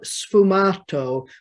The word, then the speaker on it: sfumato: painters venetian painters and in italian it's called sfumato which comes from the word fumada is the